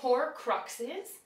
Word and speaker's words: Horcruxes: So you actually do pronounce the X.